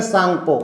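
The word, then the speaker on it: Tsangpo: है जिसे कहते हैं सांगपो वैसे तो सांगपो इंग्लिश का शब्द है य टी साइलेंट रहता है लेकिन यहां पर ये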